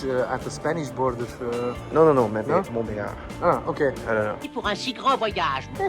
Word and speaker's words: Montbéliard: There's one in Montbéliard, or I don't know how you pronounce this stuff over here. I think. Montpellier? Yeah, I think it's at the Spanish border. No, Montbéliard.